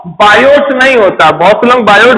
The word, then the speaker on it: Biot: तो इनका नाम था यो बैप्टिस्ट बायो, बायोट नहीं, बायो केवल, टी साइलेंट रहता है, और इनका नाम था फेलिक्स सैवर्ट।